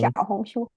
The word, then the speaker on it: Xiaohongshu: Xiao is small, Hong red, Shu book. Xiaohong Xiaohongshu. Xiao Xiao is the Xiaohongshu. hardest because you don't have that X sound in English.